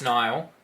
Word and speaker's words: Nil: I believe, like it's spelled N-I-L, but I'm pretty sure it's pronounced Nile, I think.